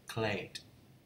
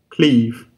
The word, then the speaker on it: cleave: Clay. Cleave. Không phải clay nhưng mấy bạn đọc là cleave.